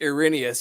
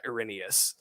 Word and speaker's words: Errinius: was pronouncing it as aaron yes for the longest time but then i understood the the actual like greekish pronunciation is uh errinius and i'm like uh